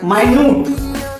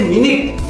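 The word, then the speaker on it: minute: चलो अब है माइन्यूट। माइन्यूट का मतलब सूक्ष्म, छोटा। लेकिन जब बोलेंगे मिनट या मिनट, तो मिनट वही घड़ी वाला मिनट हो जाता है।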